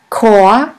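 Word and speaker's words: Chor: in the german language the words which normally start with the letter c is pronounced like the letter k here we have the word ko ko which means choir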